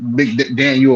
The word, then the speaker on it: McDaniel: not boost Mike U MC Daniel or whatever his name is up too high what he said he said McDaniel he say his name Mike McDaniel ain't it yeah you said it right no CJ heard something